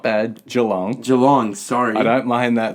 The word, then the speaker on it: Geelong: Geelong, sorry. I don't mind that, though. I've heard many different pronunciations of Geelong. Geelong.